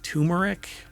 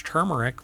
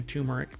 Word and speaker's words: turmeric: lot of people pronounce turmeric but it's not and I've had people when I say it's turmeric with an r and they're like there's no R in that no really it's mispronounced